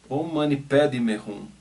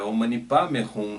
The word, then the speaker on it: Om Mani Padme Hum: E eu me lembrava muito do mantra Om Mani Padme Hum. Om Mani Padme Hum. Eu gosto muito dessa pronúncia tibetana, Padme Hum, né?